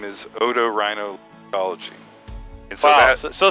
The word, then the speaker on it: otorhinolaryngology: So the big long name is otorhinolaryngology. And so Wow, so say that one more time. That's otorhinolaryngology.